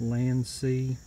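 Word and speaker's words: LANC: with a LAN see you may have heard it recalled blank but proper pronunciation is LAN see remote control on it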